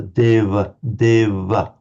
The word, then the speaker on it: deva: It's pronounced certainly among the Northern Indians between vowels as something between a V and a W. It's with the lips slightly together. Deva, deva.